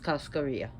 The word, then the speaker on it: cascarilla: LA, then they have the double L, AA. So it would be pronounced Cascarilla. I know people in the West sometimes like to say Cascarilla or Cascarilla. It's actually pronounced Cascarilla.